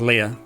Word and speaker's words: Lea: time playing it calling her Lee because I mean that's just how I read it but um yeah I guess officially it's Leah because it's a German Dev team and that's how they would pronounce it okay what am I